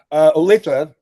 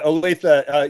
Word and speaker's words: Olathe: Now, correct my pronunciation, but I do believe you were born in Olathe, Colorado. Olathe, and I Olathe.